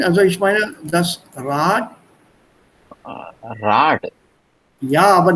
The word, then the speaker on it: Rad: Rad. Yeah, but not a duh. It's always pronounced with a T at the end, remember?